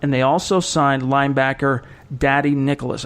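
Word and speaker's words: Dadi: they also signed linebacker Daddy Nicholas. I believe that's how you pronounce his name. He spells it D-A-D-I. I'm not 100% sure on that. Could be Dottie, but I'm pretty sure it's Daddy Nicholas.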